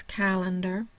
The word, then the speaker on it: calendar: your syllable division um so I have Cal and dar my primary stress is on the Cal the first syllable no secondary stress the middle syllable is schah and the final syllable